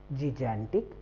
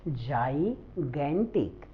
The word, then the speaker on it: gigantic: GIGANTIC, जिगैंटिक या फिर जिगैंटिक क्या है? तो एग्जैक्ट प्रोनाउंसिएशन इसका है जाइगैंटिक.